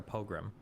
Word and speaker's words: pogrom: But apparently, like, do you pronounce it pogrom or pogrom? Pogrom.